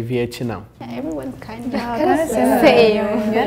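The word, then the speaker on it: Vietnã: in Brazil we say viam everyone's kind of you like a in there like Vietnam viam so in in Portuguese you don't really pronounce the T sound that strongly like I don't know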